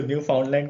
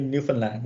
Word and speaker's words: Newfoundland: हाँ, तो एक प्रोनाउंसिएशन लोग इसको न्यू फाउंडलैंड कहते हैं, न्यूफनलैंड है।